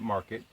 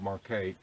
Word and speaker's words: Marquette: And one is, some people call it Market. It's spelled Marquette, and that's the way I pronounce it.